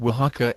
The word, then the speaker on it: Oaxaca: But some quick corrections. It is Oaxaca and it has 2.7%, not 27%. And it is Tlaxcala and Guanalan. Even I, with a robotic voice, can pronounce better than that.